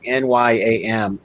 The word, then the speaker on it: nyam: pronounce it right, but one word for yam was like NYAM, which also in some countries was the verb to eat.